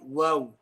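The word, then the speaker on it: و: the dry parts, mim, and then waw is a circular fashion when pronouncing. Again, ba and mim, the makhraj, even though it's shafatain, is slightly different. And waw, there's no contact between the two lips.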